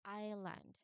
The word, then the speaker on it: island: Notice that the very first thing that you would notice upon reading this word is that there is a silent word I mean letter. There is a silent letter. What letter? Letter S.